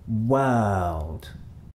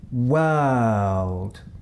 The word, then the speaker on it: world: What is the vowel sound in world? To answer this question, what you need to do is take away the w sound at the beginning and take away the u and the d sound at the end. What you have left is the vowel sound in the middle. What is that sound? Listen again as I say the word.